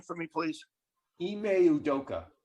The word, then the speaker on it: Ime Udoka: I can't pronounce it. Udoka. Ime Udoka.